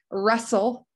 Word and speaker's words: wrestle: Wrestle. No, you can't hear that T. It seems like anytime there's an ST, an FT, that T can be silent.